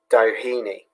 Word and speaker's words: Doheny: It's pronounced Doheny.